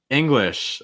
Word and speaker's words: English: our next word english english another word that so many language learners actually mispronounced and it's such a common word right english it's not it's more eng so that's first thing short i sound short i sound and